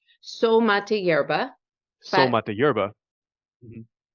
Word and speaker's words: Soul Mate Yerba: So, you guys, Anna has a company called Soul Yerba Mate. Did I say it right? So mate yerba, Soul but Mate Yerba.